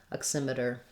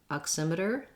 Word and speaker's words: oximeter: have my voice on touch my tongue to the t and d spot and then release back into the er sound oximeter if you have trouble with your er sound at the end your tongue should be back and tight er der oximeter it might help you